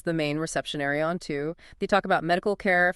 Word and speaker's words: TU: Right, which brings us to Planet 2, TU, pronounced 2.